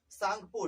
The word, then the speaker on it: Tsangpo: इसका full form होता है इंडस सांगपो, टी साइलेंट होता है, सांगपो में टी साइलेंट, TSANGPO, सांगपो कहते हैं।